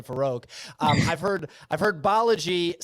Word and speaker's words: Balaji: like how to say his name, so it's Balaji.